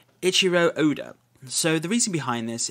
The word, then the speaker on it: Eiichiro Oda: It was Eiichi Oda. I'm trying to pronounce his name correctly, so Eiichiro Oda.